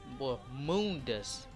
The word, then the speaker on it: Mundus: Now, Mundus, Mundus is really how you pronounce it.